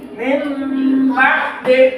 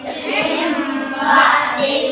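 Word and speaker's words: مِنْ بَعْدِ: Min ba'di hukumnya ikhfa. Sebab ada non mati bertemu dengan huruf ikhfa yaitu ba. Maka cara membacanya suara N digantikan ke M atau dibalikan ke M yang disertai dengan guna dan suara ikhfa.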